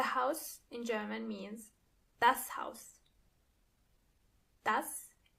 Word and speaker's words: Haus: The house in German means das Haus. Das Haus. When it comes to pronunciation, it's the same as in English, but you have to keep in mind how the word house is written.